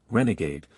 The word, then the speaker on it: RNGD: South Korean startup Furiosai announced it has secured its first major contract with its AI chip RNG, pronounced Renegade, receiving final approval from LG AI research after a rigorous 7-month evaluation.